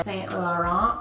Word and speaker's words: Saint Laurent: of that I'm applying this lip stain by Saint Laurent that's how you say it this isn't a